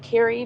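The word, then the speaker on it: Kure: I think it's Kerry. They pronounce it Kerry Beach, but it's spelled K U R E.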